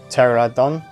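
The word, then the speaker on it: Pteranodon: Well, I say pterodactyl, but pterodon, because the P is silent.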